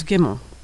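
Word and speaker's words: gimel: The third letter of the Hebrew alphabet is gimmel. Gimmel makes the sound of the hard G in good or girl, never the soft G in general or bridge.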